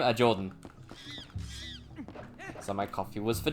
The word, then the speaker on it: Jordan: but i always say jordan i always say jordan like i say it very fast and everyone hears it as john no but they always